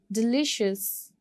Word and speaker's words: delicious: Delicious. इसमें भी आप second syllable को stress करोगे.